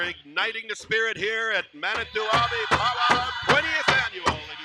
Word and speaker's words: Manito Ahbee: Sometimes we pronounce this area as Manitoba. That's mispronounced, ladies and gentlemen. Manito Ahbee.